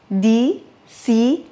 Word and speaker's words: diciembre: Ici, le C de diciembre, en Espagne, on le prononce en plaçant la langue derrière les dents en haut et en laissant passer l'air, tout doucement. Diciembre. Alors qu'en Amérique latine, c'est comme s'il y avait 2 S, diciembre.